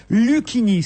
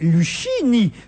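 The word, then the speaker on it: Luchini: le nom de Fabrice Lucchini, c'est-à-dire à la française, Lucchini, soit. Mais alors, ne devrait-on pas alors prononcer Lucchini, prononcer le CH comme chien? Ben non.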